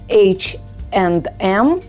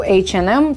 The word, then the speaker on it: H&M: Например, H&M, вы это произносите так, в Америке же это произносят H&M. Не произносится and, произносится n.